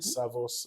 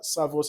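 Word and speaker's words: Servus: I'm a mobile mortgage manager with Savos Credit Union. Uh Savos is spelled Serv US.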